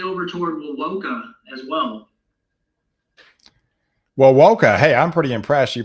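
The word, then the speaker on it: Wewoka: then maybe eventually over toward wilwoka as well well woka hey i'm pretty impressed you pronounced that correctly uh looks like there's a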